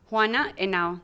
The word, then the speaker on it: Juana Henao: Juana Henao. The H is silent. Because it's Spanish, Jeff.